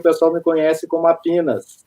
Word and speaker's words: Apinas: Então, aqui o pessoal me conhece como Apinas.